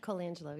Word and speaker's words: Colangelo: Colangelo, am I pronouncing it correctly? Colangelo, yes.